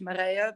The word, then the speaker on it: Marije: course um yeah so my name is Marie or in Dutch Maria but no one can pronounce that so yeah I'm I'm